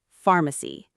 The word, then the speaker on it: pharmacy: Lastly, pharmacy mc. The stress is on the first syllable, not the second.